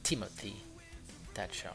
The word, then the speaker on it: Timothy Thatcher: Ou Timothy Thatcher plutôt. Voilà, parce que le premier T on le prononce, le deuxième avec le H, non.